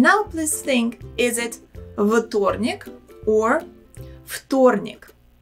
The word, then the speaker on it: вторник: And now please think, is it вторник or вторник? The correct pronunciation is вторник. Вторник. В in this word we should pronounce as фу.